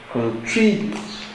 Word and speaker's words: contribute: now it is pron contribute contribute so where is the stress in the pronunciation contribute the stress is on the second sy contri contri so the